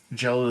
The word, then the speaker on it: Jelle: Jelly is spelled like Jelle.